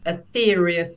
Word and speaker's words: Aetherius: King is called the ethereus society which is spelled like the Greek ether a-e-t-h-e-r-i-u-s society and a